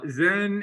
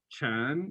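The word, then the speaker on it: 禅: so we're clear uh zen is the japanese pronunciation of a chinese character uh in chinese it's called chan in korean i think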